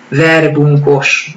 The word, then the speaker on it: verbunkos: know all around the world, and it is verbunkos, and I have no idea how they pronounce it somewhere else in the world, but trust me, we pronounce it like this in Hungarian.